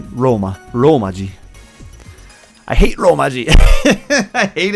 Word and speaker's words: romaji: people don't know that it's not with an n because they think kanji and they think oh romanji they think it's like a rhyming thing but it's not it's